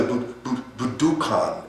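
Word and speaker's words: Budokan: Bu at the at the budan as the as the Japanese pronounce it.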